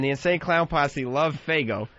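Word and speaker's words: Faygo: No, FGO. FGO. F A Y G- O.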